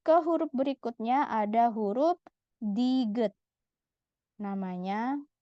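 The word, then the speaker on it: 디귿: huruf berikutnya ada huruf Diget namanya di good di awal dia dibaca huruf d kita fokus ke cara baca awal awal dibaca D di akhir dibaca t kita fokus ke huruf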